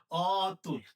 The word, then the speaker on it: অতুল: এটার উচ্চারণ হবে অতুল। তার মানে কেন? তুল মানে তুলনা। অতুল মানে যার তুলনা নেই। তার মানে কি? তুল যে অর্থ দেয় অ যুক্ত হওয়ার কারণে ওই অর্থটা বিপরীত হয়েছে। অযুক্ত হয়ে তার বিপরীত অর্থ দিলে অ এর উচ্চারণটা ও কি হবে না। অর উচ্চারণ অই থাকবে। তার মানে এখানে উচ্চারণ কি লিখতে হবে?